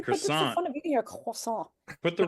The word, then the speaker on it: croissant: My daughter's been eating loads of croissants. Croissant. You know, you got to pronounce it croissant. You know, you Croissant. can't just say fucking croissant. You can't say it normal.